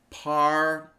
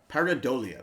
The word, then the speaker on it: pareidolia: I believe it's pronounced pareidolia. Yeah, how do you say that? Here we go. Pareidolia. Pareidolia.